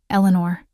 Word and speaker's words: Elanor: "Elanor," he said, my name somehow sounding different in his mouth. Not the casual I'd grown accustomed to, but all three syllables pronounced with deliberate care.